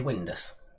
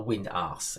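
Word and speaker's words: Windass: the coronation street character it is of course gary windus or wind ass if you want to say it like that we had another alex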